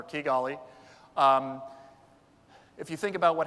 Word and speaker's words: Kigali: One of them is Rwanda, Kigali, and now I know I've mispronounced it thanks to the other speaker from Kepler, Kigali.